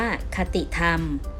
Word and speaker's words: คติธรรม: หน้า ที่ 76 ค่ะ คติธรรม อ่าน ว่า คติ ธรรม หมาย ถึง ธรรม ที่